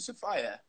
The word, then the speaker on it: Sapphi: Do I pronounce it Sapphire? Yeah, Sapphire. Sapphire, Sapphire. like the gem.